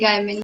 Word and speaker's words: Gaiman: Am I pronouncing it right? Yeah. Gaiman? Neil Gaiman.